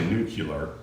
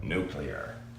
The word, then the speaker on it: nuclear: even pronouncing it right because it's not actually new killer even though everybody says that it's this new clear new toy yard no play our new lair that's how you spell it nuclear so you can Google